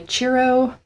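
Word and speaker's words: Ciro: um gilded tarot by churro marchetti now I think that's how you pronounce it it's c i r o maret m a r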